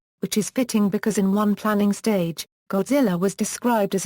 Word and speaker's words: Godzilla: The Japanese pronunciation of the name is ( ); the Anglicized form is , with the first syllable pronounced like the word "god", and the rest rhyming with "gorilla".